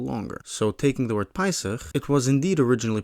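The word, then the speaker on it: פּסח: You might expect this to be pronounced PES with this vowel here seel being pronounced a in such a context inish pronunciation. But is that how it's pronounced? Well, not really. It's actually pronounced pis as if the vowel mark there were.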